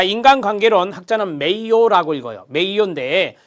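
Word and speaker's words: Mayo: 입니다 테일러의 과학적 관리론 입니다 자 인간관계론 학자는 메이어 라고 읽어요 메이 원대에 신 고전 모양의 인간관계론 1번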